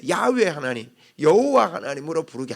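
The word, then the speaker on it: 야훼: 설명도 없이 여호와 하나님이다 여기 이제 언어적인 바위 발음은 야외 하나님이다 야외가 더 가까운 바람이에요 한번 해봅시다 야외 야외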